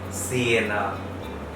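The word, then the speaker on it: Siena: যদি এস ভাওয়েলের আগে বসে, মানে এ ই আই ও ইউ এর আগে যদি বসে, তাহলে ইতালিয়ান এস এর উচ্চারণটা হচ্ছে স। যেমন সিয়েনা, একটা শহরের নাম, যেমন সোলে এর অর্থ হচ্ছে সূর্য।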